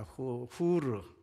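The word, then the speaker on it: Hur: 허씨 집안의 아들 그 허라 하는 것은 영어 발음이고 그것은 어 h 이잖아요 후입니다 후르 어 히브리 말로는 후르 베는 아들이란 얘기예요 후루의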